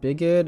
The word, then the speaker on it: bigoted: going back and reading it's pronounced bigoted i always write it as by get okay right so illiterate